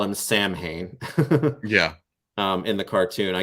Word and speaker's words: Samhain: mean they call him samhain yeah in the cartoon i guess if you're going to be real real particular it really should be pronounced shawn or something like that but he comes with